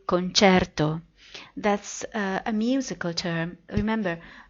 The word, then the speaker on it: concerto: Italian people, like me, say concerto.